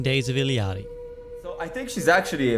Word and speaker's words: Illari: The first thing we should talk about with this hero is the pronunciation of her name. I am Illari.